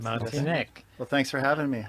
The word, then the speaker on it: Martinek: Tell us welcome if you are This is Ben Martinic. Did I say it right? Yes, you did, Martinic.